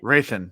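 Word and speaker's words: Hrathen: Raithan, the H is silent. Yeah, there's Yeah. And for me, it sound like a It's like Jeno. The D is silent. It's Rathan.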